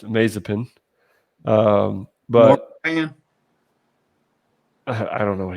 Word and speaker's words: Mazepin: We believe his name is pronounced Mazepin.